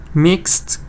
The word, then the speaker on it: mixed: Mixed, good, sweet. Yes, Zahra also. Added sugar, good. So you have mixed, you get the ed, but you get just one syllable.